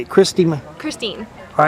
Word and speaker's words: Christine: Christine.